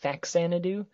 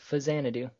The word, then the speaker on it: Faxanadu: I've always pronounced it Faxanadu, but apparently, according to Wikipedia, it's Fazanadu.